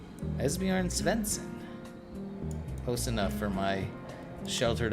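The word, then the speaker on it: Esbjörn Svensson: I believe Esbjorn Svensson. Esbjorn Svensson. So we'll go... Correct! I did it. He says I pronounced it correct. Esbjorn Svensson.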